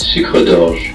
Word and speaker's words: Sucre d'Orge: Okay, so it's a French word and it's pronounced Sucre d'Orge.